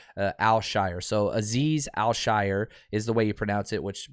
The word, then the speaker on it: Azeez Al Shaair: it's al shire um al shire so like if you think about like the hobbits right the shire al shire so aziz al shire is the way you